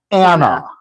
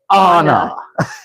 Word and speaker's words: Anna: Like, Elsa's sister is not Anna. It is Anna. Name pronunciation is important.